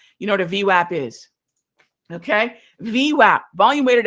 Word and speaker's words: VWAP: So that takes us to the volume weighted average price, the VWAP. If you need to know how to pronounce this, it's V and then WAP, like your apps on your phones, right?